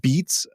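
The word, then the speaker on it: beets: It's called Beats, spelled like the vegetable bee ts.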